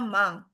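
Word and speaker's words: 万: Sekat pertama sekat satu itu bacanya mang.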